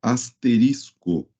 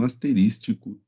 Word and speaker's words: asterisco: em Python, é o asterisco. Asterisco e não asterístico. Tá bom, pessoal? Muito cuidado aí com a pronúncia, né, do operador. É asterisco.